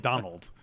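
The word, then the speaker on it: Domhnall: many people reminded us you don't pronounce the m and donald gleason that's a promise i think it's just like donald um but um i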